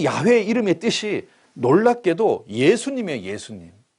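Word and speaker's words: 야훼: 그나 사실은 오리지널 발음은 여호와가 아니고 거의 야에 가까워요.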